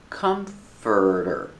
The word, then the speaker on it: comforter: Comforter. Comforter. The stress is on the first syllable. It's three syllables.